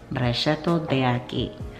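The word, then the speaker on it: Brachetto d'Acqui: Actual pronunciation, Brachetto de Aki.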